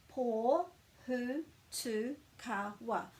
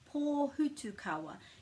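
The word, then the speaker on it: pōhutukawa: So I've already put the breaks in for you after each vowel. Pō Hutu Kawa. Pō Hutu Kawa.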